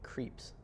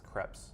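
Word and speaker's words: Krieps: It was Vicky Creeps. Okay, Creps? she did good. Creeps? Is that how you pronounce that? I think it's Krebs. Creps.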